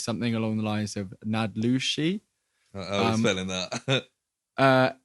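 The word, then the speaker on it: naałdlooshii: along the lines of nadluxi uh n a a l d l o o s h i i i think phonetically it's nad lucie i think the first l is silent potentially might have watched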